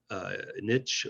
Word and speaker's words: niche: including in the competitive niche or niche, however you prefer to pronounce it, of flower and gift basket delivery.